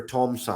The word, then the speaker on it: Tom-san: So my name is Tom, and the honorific term in Japan is san. So 3 happens to be the same word, the same pronunciation, san. So we have Tom-san, and then we have the number san.